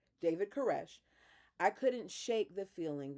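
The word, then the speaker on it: Koresh: and the tape sermons of their leader David Corset. K O R E I know I'm saying that wrong. Kesh Alexa, how do you pronounce K O R E S H? Alexa, Alexa, stop. David Caresh.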